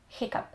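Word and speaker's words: hiccough: Nie ma ich wiele, najczęściej używanym jest hiccup, czyli czkawka, i tam gh czytamy jak p, hiccup.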